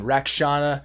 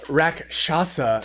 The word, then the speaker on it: Rakshasa: Rakshana. And it's 6 mana. Let me say it right. Rakshasa, Debaser, 4/6/6/6 creature cat demon.